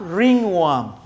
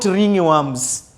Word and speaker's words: ringworm: We have ringworm, not ringworms. It is ringworm. It is spelled as RINGWORM, ringworm.